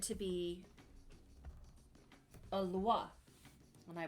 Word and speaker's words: Loa: And um the Baron is said to be a Loa. Am I pronouncing it wrong? It's Loa. Loa.